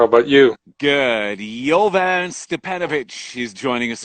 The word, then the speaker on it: Jovan Stepanović: friend uh nothing much how about you good jovan stepanovich he's joining us right now how is my that pronunciation one was great okay but i want